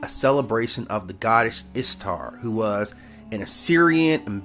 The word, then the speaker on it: Ishtar: Now, Ishtar, which is pronounced very much like Easter, obviously, was a day that commemorated the resurrection of the god who they call Tammuz.